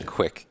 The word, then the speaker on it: Kwik: called quick brain so my last name is quick can be the only thing is people after